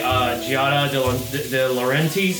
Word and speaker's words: Giada De Laurentiis: And also I'm a huge fan of like Gordon Ramsay, Bobby Flay, Giada De Laurentiis is how you say her name.